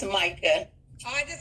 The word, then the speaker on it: Micah: Is it Micaiah? How you say it again? No, it's Micah.